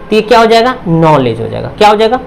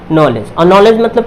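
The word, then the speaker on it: knowledge: हमेशा साइलेंट होगा अगर इनसे पहले क्या है कि इसमें क्या होगा कि हमेशा साइलेंट हुआ नॉलेज नॉलेज आप इसी तरीके से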